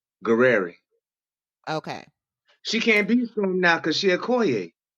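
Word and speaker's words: Gurira: I Dana, how you pronounce her last name? Guerreri.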